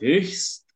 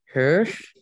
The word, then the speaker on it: höchst: Und das ist höchst. Cara bacanya itu adalah höchst ungesund. Höchst. Itu sangat tidak sehat. Betul, betul. Cara bacanya itu adalah höchst. Ininya kan O umlaut, höchst. Terus ada ST-nya.